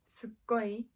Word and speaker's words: すっごい: すごい It's a more natural and casual way to say than とても。If you pronounce すっごい, it will sound more casual and it will have a more emphatic meaning.